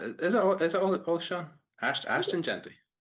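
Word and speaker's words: Ashton Jeanty: Is it Ashton? Oh, yeah. You're thinking Oshan Jeffrey used to play for the for the Eagles, the wide receiver. Oh my god. I have been saying his name wrong all year. He's just Ashton Genty.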